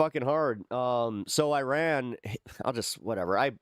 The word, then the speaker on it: Iran: Um, so Iran I'll just whatever I I pronounce it differently. It's technically Iran, but so they uh